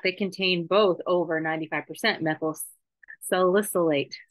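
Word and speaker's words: methyl salicylate: contain both over 95% methyl silicate silicate that's how you say it methyl solicite is commonly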